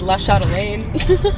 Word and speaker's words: La Chatelaine: the name, it's like Everyone in Ohio says La Chatelaine. Oh, is it? Oh, it's French. Oh, I gotta look up how it's spelled.